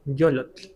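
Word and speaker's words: yollotl: ¿cómo se pronuncia corazón yolot?" Pues sí, con con doble lolot. Yolot. En este caso, esta L no se alarga, ¿te mastes? Yo este no se alarga mucho, pero sí siempre lo escribimos con doble L.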